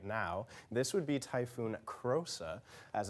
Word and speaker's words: Krosa: This would be Typhoon Krosa, as it's pronounced.